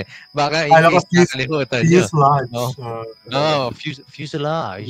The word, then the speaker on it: fuselage: baka hutan fuselage oo fuselage yun pala yung pronunciation fuselage oala ko fuse lagi a fuse L okay okay okay yan